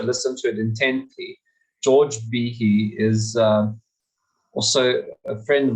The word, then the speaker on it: Behe: We've been going, it's George Behe, but it's Behe. He actually pronounced it for everyone in that particular Zoom.